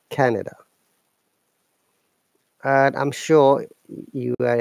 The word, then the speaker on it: Canada: In Canada, our stress is on A, Canada. And you may have noticed there is a short sound after N.